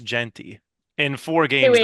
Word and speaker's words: Jeanty: Look no further than Boise State Broncos running back Ashton Genty. You're Um, definitely butchering that last name. it's Jeanty, but I'm pretty sure it's pronounced Genty.